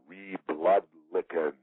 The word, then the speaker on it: ReBLOODlicans: new book, DemoCRIPS and ReBLOODlicans. Hey, Jesse, how are you? Good, Rita. You need to, and you're not alone. It happens a lot. You need to syllable out that last word. It's ReBLOODlicans.